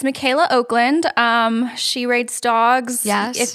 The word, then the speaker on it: Michaela Okland: It's spelled weird. Yes. It's Michaela Okland.